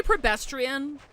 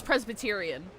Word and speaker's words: Presbyterian: Did I say Prebestrian? I always misread Presbyterian as Prebestrian. Feeling all I've right? done that since I was a child. I'm pretty sure I mispronounced that. I know it's Presbyterian, but whenever I see